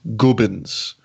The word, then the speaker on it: Gubbins: that you're standing completely still telling you it's pronounced gubins yeah that was the trailer I looked that